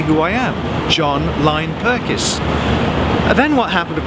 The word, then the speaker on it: Pirkis: had been experiencing this no one can pronounce my name correctly it's john lynn perkins it's john perkis is john lynn prickes it's john lyon perkins so at the same